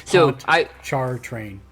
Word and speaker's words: Pontchartrain: I spell it. We've lost all of the viewers from that area. Pontchartrain. It's Pontchartrain.